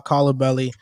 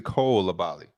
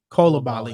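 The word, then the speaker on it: Coulibaly: me I understand coal it's actually Cole labali Cola Bali okay okay that's much easier Cola Bali in the middle I heard somebody pronounce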